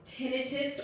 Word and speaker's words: tinnitus: So, tinnitus. So this is a question referring to tinnitus or tinnitus. We could do another presentation on that. Yeah, no, they're both, tinnitus or tinnitus are both proper pronunciations.